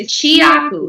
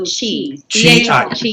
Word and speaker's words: Chiaku: It's Chiaku. So Chiaku.